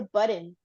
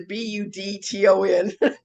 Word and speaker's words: button: The way I hear you say is a Budton.